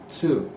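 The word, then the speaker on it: つ: அடுத்த லெட்டர் வந்து பார்த்தீங்கன்னா சு. இதுவும் வந்து பார்த்தீங்கன்னா ஒரு எக்ஸெப்ஷன் தான். இங்கே வந்து பார்த்தீங்கன்னா டூக்கு பதிலாக சு அப்படின்னு சொல்லுவாங்க. சு இங்கே கொடுத்துருக்கேன் பார்த்தீங்களா, இட் சு. சு அப்படின்னு ப்ரொனவுன்ஸ் பண்ணணும்.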